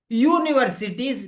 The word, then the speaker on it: university: there but sound I'm bothered about the sound pronunciation a university boy yeah university uh student a university student